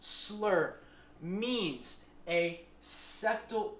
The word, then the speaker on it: SSLR: SSLR, pronounced “slur” means a septal S and a Lateral R which is more than 35 mm.